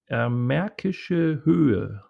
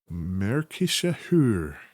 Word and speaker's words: Märkische Höhe: This is pronounced Markisch, is that right? Märkische Höhe. Märkische Höhe. Right. Very good.